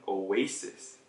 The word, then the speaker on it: oasis: Oasis, 원래 우리 발음으로 하면은 oasis. 그래서 그 다음에 A처럼 발음을 하시면 돼요. 되고 아는 우리는 그렇게 발음을 안 해요. So oasis은 아니라 oasis. Oasis.